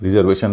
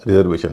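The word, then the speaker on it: reservation: जी हाँ, रिजर्वेशन नहीं होता, रिजर्वेशन होता है और उसका कारण भी आप देख पा रहे होंगे।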